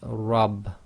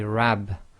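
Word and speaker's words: رب: this in the word rub. Rub. You cannot say my rab, you say my rub. So that's why it's rub instead of rab, is because the letter ra with fatha must be pronounced heavy, so it's ra, ra.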